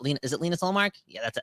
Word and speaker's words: Linus Ullmark: Not Linus, is it Linus Ullmark? Yeah, that's how you pronounce it.